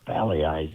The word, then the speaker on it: Pagliai's: I keep pronouncing the G. You're not supposed to pronounce the G, but Pagliai's is right down there near the stadium.